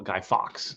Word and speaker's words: Guy Fawkes: in the us uh we call guy fox like fox but you know what